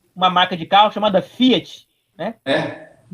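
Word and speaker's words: φ: Alguns professores de grego leem Pi. Por exemplo, piolosofia, né? Em vez de filosofia, filosofia. Eu acho horrível essa pronúncia. Mas provavelmente ela é uma pronúncia do ático, ou seja, ela é uma pronúncia do grego clássico, antes do koiné. No koiné é Fi mesmo.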